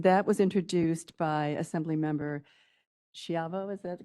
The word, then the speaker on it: Schiavo: And that was introduced by Assemblymember Schiavo, is that the correct pronunciation?